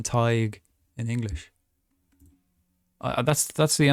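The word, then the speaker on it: Tadhg: having trouble with again Irish names are weird because it's like we don't pronounce the letters the same way you know it's like um um TIG TIG TIG is his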